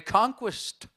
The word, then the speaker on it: conquest: Pourquoi dit-on to conquer, conquérir, mais conquest, une conquête? Il n'y a aucune raison pour que conquest, dérivé de conquer, se prononce quoi, et que le que